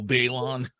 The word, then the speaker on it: Baylon: your pronunciation of it that's not my anglicized pronunciation hey how's it going my name is Balon so it just it sucks so I was